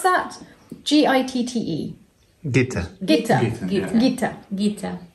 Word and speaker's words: Gitte: Is that how you pronounce that? G-I-T-T-E.